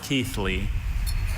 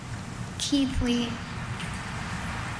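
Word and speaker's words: Keighley: Are there any alter pronunciations? There is just the one. Keithley.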